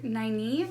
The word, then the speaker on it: Nynaeve: Our main character, Nynaeve, I believe is how their name is pronounced.